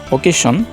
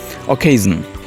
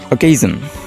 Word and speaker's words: occasion: করে থাকি সেটি হচ্ছে ওকেশন। সো ওকেশন এটিও অশুদ্ধ উচ্চারণ। সঠিক উচ্চারণটি হচ্ছে অকেশন। Occasion. Occasion is the right pronunciation of occasion.